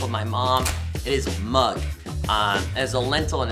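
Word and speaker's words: moong: my mom it is mug um as a lentil and it's how you pronounced m o o n g mug not not the mug that you see like M Yugi I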